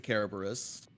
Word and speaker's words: Kerberos: And yes, I said it that way on purpose because I think it's funny. That would technically be the right way to say it. Yeah, I know, but it's also not. because we're in America.